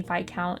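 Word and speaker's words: viscount: the French pronunciation but yes it should be vicount in English but I don't know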